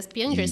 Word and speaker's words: Piangers: É Piangers que pronuncia? Pronuncia correto.